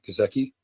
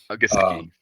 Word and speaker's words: Gesicki: Gazeki. Gesicki.